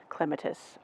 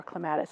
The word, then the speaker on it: clematis: This is a Pruning Group 3 clematis, or clematis, however you want to pronounce it.